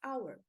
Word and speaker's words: hour: por exemplo a palavra hour o h é considerado uma consoante porém eu não pronuncio então ao invés de